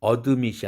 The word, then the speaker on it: admit: 그래서 admit이 아니라 admit 이렇게 발음해야 되죠.